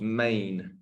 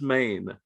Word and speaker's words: Men: is spell men but it's pronounced main as in m-a-n-e it's a Cornish word right so as a guy from Brooklyn I'm probably not going to get that um and it's Maine that's it Andis Maine